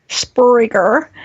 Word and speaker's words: Spreaker: and yeah I said it right it's Freaker Spreaker alright so let's just dive in cuz I